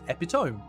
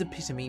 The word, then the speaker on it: epitome: Although, because I read it first before I ever said it, I did originally try to pronounce it as Epiome because that's how it reads. But no, it's epitome because the English language is so stupid.